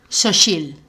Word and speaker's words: Xochitl: Xochitl. Así, qué bien pronunciar.